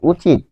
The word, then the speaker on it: উচিত: কারণ কি, বানান হচ্ছে, বানানে হসন্ত লেখা হয় না, বানানে কি করা হয় না, বানানে হসন্ত লেখা হয় না, কিন্তু উচ্চারণে হসন্ত লিখতে হয়। কারণ কি, উচিত যখন আমি বলছি তখন আমি থেমে যাচ্ছি, উচিত থেমে যাচ্ছি, যেহেতু থেমে যাচ্ছি তাই এখানে হসন্ত হবে।